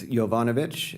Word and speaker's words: Jovanovic: Uh it's Jovanovic, and it's spelled J O V as in Victor, A N O V as in Victor, I C.